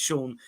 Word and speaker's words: Sion: Yeah, a lot of Tom Butler saying Sion Spence is pronounced Sean.